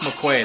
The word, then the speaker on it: McQuade: Lone Wolf McQuade.